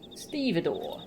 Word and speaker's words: stevedore: hmm is is this stevedore a thing stavador google stevidor also called a longshoreman a docker or a dock the waterfront manual laborer there you go did not know pronunciation how do i pronounce it stevedore stevedore yeah thanks google not interested here i